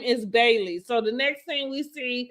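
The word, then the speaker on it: Baileys: her dog's name is Bailey. So the next thing we see is Bailey's. With Bailey's. That's what I said, Bailey's. Bailey's. I'm saying the S, Bailey's.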